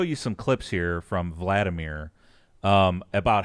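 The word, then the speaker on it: Hvaldimir: How do you even pronounce Vladimir? Yeah. It's Valdemir. Valdemir.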